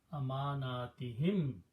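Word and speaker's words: لأماناتهم: You pronounce this he. Amanatihim, that's the word in the Quran.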